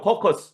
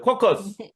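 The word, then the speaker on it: caucus: 배우는 거 빨리 합시다 코커스 이거 많이 들어보셨죠 커커스 스 예 발음 좋은 우리 너구리 님이 한번 해주세요 따라해 주세요 커커스 코커스 아 매력적인 발이야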